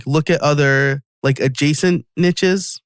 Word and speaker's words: niche: It's a really great product and newsletter, but he says look at other adjacent niches. You say niche, I say niche. I think I say it wrong.